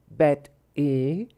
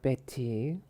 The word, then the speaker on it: Bette: Bet-E, not Betty. Just no. You don't know how to pronounce.